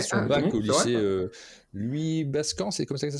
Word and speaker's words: Louis Bascan: Louis Bascan, c'est comme ça que ça se prononce?